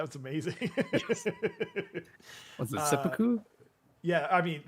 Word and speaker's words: seppuku: Was it seppuku?